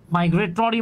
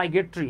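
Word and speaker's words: migratory: দ্যা campus of দা মাইগ্রেটরি মনে হয় হবে কিন্তু উচ্চারণ হচ্ছে মাইগ্রেট্রি হ্যাঁ মাইগ্রেট্রি বার্ডস এই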